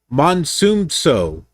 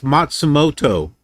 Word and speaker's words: Matsumoto: I can't even pronounce that. Matsumso. Right there. So this way. Hamamatsu. And then to Tokyo. Shimufasa. Okay, so this it's okay, the C or the O was cut off. It's Matsumoto.